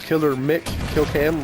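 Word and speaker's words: Killer McKillcam: video will say, yeah, Killer MC Killcam. It's like I can see the confusion, but it's Killer Mick Killcam, like McLovin from Superbad, badass movie.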